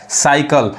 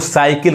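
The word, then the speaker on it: cycle: स पढ़ा रहा है साइकल अब एक चीज यहां पे देखिए बहुत लोग साइकिल कहते हैं साइकिल इसका हिंदी में मीनिंग साइकिल होता है इंग्लिश क्या पढ़ाता है साइकल साइकल अब यहां देखिए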